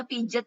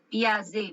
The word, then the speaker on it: Piaget: Biasanya mahasiswa kependidikan tuh jawabnya pijet ya. Ibu biasanya suka marah kalau dipanggil pijet. Bukan pijet, Piaget bacanya.